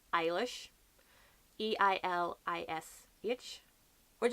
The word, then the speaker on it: Eilish: calls the sister Eilish I've always known it to be ela SH but then as I said there's different pronunciations like in under the Hawthorn tree the girl is called i'll e r eally it just depends on what your accent is on the last thing